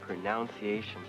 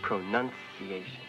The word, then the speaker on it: pronunciation: talking about pronunciation no pigy the word is not pronunciation it's pronunciation hello I'm and With a Little